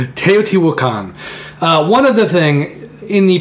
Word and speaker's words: Teotihuacan: on Kickstarter so teoti wakan I saw you to pronounce it correctly I always wanted to call it teotihuacan teoti wukan one other thing in